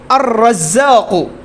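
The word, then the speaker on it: الرزاق: আর যদি শিনের মতো বাদবাকি 14টার সাথে লাগে তাহলে কিসের মতো উচ্চারণ হবে, শিনের মতো। এই যে আশ-শামসু, হ্যাঁ, আদ-দাররাজাতু, দাররাজাতুনের শুরুতে দাল, এর শুরুতে যদি আমি রাখি তো আদ-দাররাজাতু, আর-রাজ্জাকু, ঠিক আছে, এরকম।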